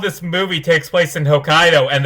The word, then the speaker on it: Hokkaido: movie takes place in hokkaido and they call it hokayado every time and it annoys me like if you're going to adopt a movie set to japan at least pronounce the place name right but whatever whatever before